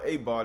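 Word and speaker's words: אבד: It's not abad, it's not spelled with an ayin. It's spelled with an aleph.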